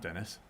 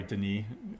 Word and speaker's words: Denis: wrong this entire time it's the knee not dennis so i only read ever read his name so uh sorry sorry denis i was mispronouncing your